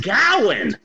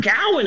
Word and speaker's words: Gawain: shocked me is that uh sir gawain apparently it's pronounced gowen and that blew my mind you mean i've been pronouncing this wrong for 45 years yeah apparently it's sir cowan in the green knight oh